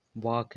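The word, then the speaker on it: walk: कहीं-कहीं साइलेंट होता है। जैसे साइलेंट किस तरह से साइलेंट जो होता है जैसे वाक है तो वाक में जो है के आया तो के साइलेंट हो जाता है। ओ एल आया वाक वाक में जो है हम एल अगर साइलेंट है जो एल जो है यह साइलेंट है। तो यहां खाली इसे बी डब्ल्यू ए के वाक बोला जाएगा।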